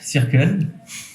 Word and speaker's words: Circle: Circle ? C'est comme Soch, tu sais. On va faire une petite vidéo d'ailleurs pour prononcer correctement. C'est circle, circle, circle. Ok. Donc en anglais. À l'anglaise, oui.